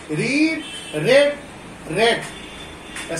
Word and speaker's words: read: रीड, रेड, रेड. Spelling same है, कोई change नहीं होगा, बट प्रोनाउंसिएशन अलग हो जाएगी.